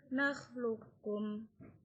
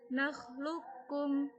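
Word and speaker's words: نخلقكم: Contohnya pada qaf dan kaf, nakhluqukum. Jadi bukan membacanya qafnya dikolkolakan, tapi langsung qafnya itu menuju huruf kaf.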